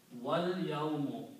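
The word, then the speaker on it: والْيَوْمُ: So, you pronounce wal, so do not pronounce this alif. So this becomes again a hamzatul wasl, small swad. So that's what this one is there. So the word is pronounced as wal yawmu, and the day.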